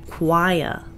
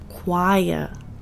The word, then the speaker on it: choir: The ch has a k sound. We also hear a w sound followed by an I sound, choir.